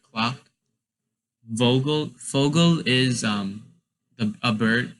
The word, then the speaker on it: Vogel: Like for Vogel, you say it like sort of as an F instead of a V. So you wouldn't say Vogel, you would say Vogel.